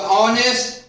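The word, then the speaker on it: honest: तो ऑनेस्ट, our, honourable, ये तीनों ऐसे शब्द हैं जिसमें एच का उच्चारण ह नहीं हो रहा है, ये तीनों शब्द में एच साइलेंट है।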